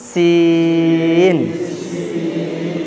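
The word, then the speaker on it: سين: এবার এই এটা হচ্ছে জিভ, জিভের আগা, এই নিচের দাঁতের আগায় গিয়ে লাগবে। কোথায় লাগবে? নিচের দাঁতের আগায়, গোড়ায় নয়। এই দেখেন উচ্চারণ করেন সিন সিন।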